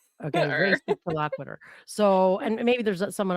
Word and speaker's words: res ipsa loquitur: think I say it like real slow, like res ips loquit. Okay, race loquitur.